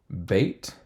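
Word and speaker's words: בית: Beit, without the dagesh, it's a V. With the dagesh, it's a B.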